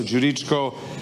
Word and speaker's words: Djuricko: But try with Djokovic, that's the G, so Djuricko.